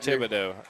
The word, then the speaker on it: Thibodeau: I'm not sure how to pronounce his name without you, Kyle, so I'm glad Thibodeau.